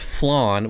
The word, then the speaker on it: flan: are in the water flan is pronounced flan well that just makes me hate it even more like if it's pronounced flan then spell it with a w don't don't leave out the w it's flan that's that's that's how it's said it's flan it's only gonna be flan i'm gonna go to